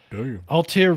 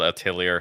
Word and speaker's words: Atelier: what the what damn Altair ryza it was a double episode to start with and I believe you mispronounced that it's called Atelier thaisa it's called yeah